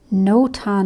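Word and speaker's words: notan: dark so this is almost kind of a no-ton like design you can look that up it's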